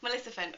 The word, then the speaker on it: Maleficent: Maleficent, with my mum and my sister, obviously Maleficent 2.